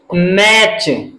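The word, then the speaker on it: match: अगर टी सी H last में आता है तो ऐसे शब्दों में हम टी का उच्चारण नहीं करते हैं, तो इसका उच्चारण क्या करेंगे, मैच।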